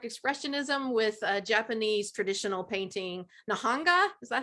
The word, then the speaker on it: Nihonga: As you can see from this art, he combines abstract expressionism with Japanese traditional painting, Nihonga. Is that how you pronounce it? That's correct. Yeah. Nihonga.